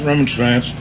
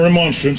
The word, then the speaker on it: remonstrance: legislature a constitutionally authorized roman strands or remonstrance if you prefer that pronunciation for a redress of